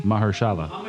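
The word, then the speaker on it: Mahershala: real for real what what's his first name pronounce that for me Mahala Mahala are you serious Mahala Maha I was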